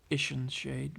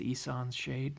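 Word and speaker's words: Ihsan's Shade: Of course, when I was a kid, I would call it Ishan Shade, but I think it's Isan's Shade.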